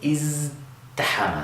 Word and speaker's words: ازدحم: would wind up with izdahama. So we have that z, we're using our voice box, and if you say it fast, you'll find that the ta here winds up sounding like a dal anyway.